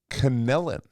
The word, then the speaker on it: Connellan: Now, Conellan.